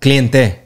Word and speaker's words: cliente: Cliente. Cliente. Yeah. Yeah, with the E at the end.